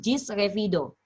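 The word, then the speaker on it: ĝis revido: Nah, kalau mau berpisah, gis revido. Ya, G dengan topi dibacanya J. Jadi gis revido.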